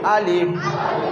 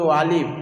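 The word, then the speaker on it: ألف: একটা, এটা আরবিতে হচ্ছে আলিফ। জি, আরবিতে কি হবে? আলিফ। আলিফ আলিফ আলিফ আলিফ যখন বলবো আমাদের উচ্চারণটা আলিফের কেমন হবে? দুটা ঠোঁট বুঝবে না, বাতাসের সহিত বেরোবে আলিফ শব্দ, আলিফ আলিফ।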